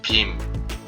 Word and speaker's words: 빔: If you separate the second letter, 'BIM' 'BIM' into the initial consonant, middle consonant, and final consonant, and combine the initial consonant and the middle consonant, the basic pronunciation will be the same as the first letter, right? It is read as ‘BI’ ‘BI’. And if you read the final consonant 'ㅁ' (mi-eum) together, 'BI' becomes 'BIM' 'BIM'.